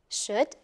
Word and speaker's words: should: special words like could, should, and would. Do you know what's interesting about these three words? They are spelled O-U-L-D, but we do not pronounce the L.